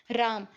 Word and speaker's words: राम: कई बार लोग राम का उच्चारण केवल राम अथवा रा इस प्रकार करते हैं, परंतु म काल में हल के बाद अ का निहित है। राम राम म।